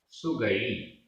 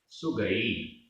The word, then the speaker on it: सुगई: सुगई, सुगई, ई छोटी है यहाँ पर, सुगई, और अगर बड़ी होती तो सुगई ऐसे बोलते, यहाँ पर सुगई, छोटी ई।